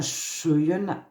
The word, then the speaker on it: Schøyen: en 1940 Martin cHEYEN ça s'écrit avec un o c'est un norvégien le obaré se prononce e comme bleu et Martin Chuyen a la collection de